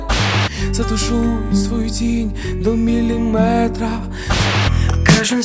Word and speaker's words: міліметр: слів із частинкою метр буває кажуть кілометр сантиметр це неправильно у словах на позна міри довжини з компонентом метр завжди наголошуємо саме цю частину міліметр сантиметр дециметр кілометр кілометри